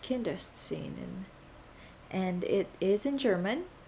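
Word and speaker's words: Kinderszenen: kindergarten hi editing leah here and it's actually pronounced kindest scene and it is in german scenes from childhood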